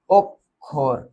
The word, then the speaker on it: অক্ষর: হ্যাঁ এটার উচ্চারণ হবে ওক তারপরে হবে খোর। ওখোর হ্যা এরপরে কি?